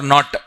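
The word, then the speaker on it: knot: Miles per hour or not? This also was asked once. Not may K silent. K is silent.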